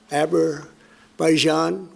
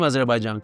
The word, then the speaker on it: Azerbaijan: word Azarbaijan uh Abberaijan and Albania to some extent this is understandable the word is foreign. The phonetics are unfamiliar and it has as many as four syllables.